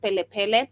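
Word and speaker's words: Kplé Kplé: This is KPLE, where I believe the K is silent, so you pronounce it Pele Pele.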